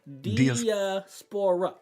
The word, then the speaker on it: diaspora: what that mean because I use a three diaspora that's four syllables okay diaspora diaspora so